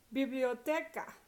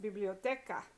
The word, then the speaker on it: biblioteca: Biblioteca, next to last syllable because it ends in an A and an A. And so next to last syllable is stressed. Biblioteca.